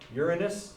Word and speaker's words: Uranus: about the same okay uranus by the way that's how you pronounce it uranus is something else just so you know because lots of people pronounce that wrong okay um and then